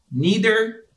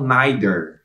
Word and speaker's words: neither: essa pessoa vai responder líder em É isso mesmo Líder Essa é a pronúncia tem alguns países que falam naider tá tá certo também Líder ou neider e preste atenção que